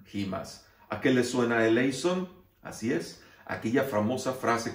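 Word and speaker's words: ἐλέησον: eles son jas en el griego moderno se pronuncia elison jas A qué le suena elison Así es aquella famosa frase que se dice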